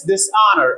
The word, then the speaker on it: dishonor: honor it is silent so we add this dishonor again it is silent the same as it was disheartening in